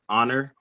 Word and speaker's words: honor: ඒකේ honor h එක ඒකෙත් silent. ඒකෙත් honor කියන එක. That's true. ඒක මම අහලා තියෙන ළමයි ඒකට honor කියලා කියනවා. h එකක් නෑ ඒකේ. කෙලින්ම honor.